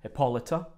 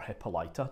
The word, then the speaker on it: Hippolyta: There's Queen Hippolyta of the Amazons, or Hippolyta, depending on the poetry, you can pronounce it either way, so don't get too hung up on it.